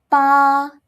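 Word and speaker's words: pà: Now, the fourth tone scared which starts with a p you say it like this. pa pa Can you see? A slight change. The alphabet changed from b to p.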